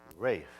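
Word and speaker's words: Ralph: mixed up the captain with the lowly Seaman Rafe rack straw by the way that name Rafe spelled r-a-l-p-h but it's pronounced Wraith why do I ask the English and oh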